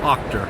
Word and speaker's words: Auchter: British Columbia with Bill aler did I say your last name right well Octor Octor sorry butchered that I I have a